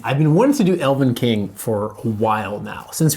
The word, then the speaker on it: Elvenking: Elvenking. Elvenking. I think I always mispronounce this as Elvenkings, as in plural, for some reason.